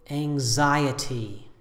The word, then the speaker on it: anxiety: chaotic three syllables with stress on the second syllable I say anxiety anxiety the adjective is anxious anxious hierarchy hierarchy